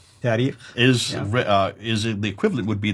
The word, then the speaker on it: tarikh: And then the last genre, the tarikh. How do you say it again? Tarikh.